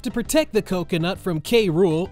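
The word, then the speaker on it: K. Rool: protect the coconut from kruu or krule as the show pronounces it or anyone else a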